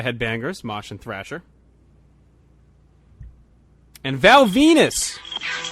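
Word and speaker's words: Val Venis: MH and Thrasher and Val Venus rhymes with penis lost to Mr Steve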